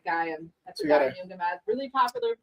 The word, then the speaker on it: Gaiam: So this is a, how do you say this, Gaia? Yeah, Gaiam.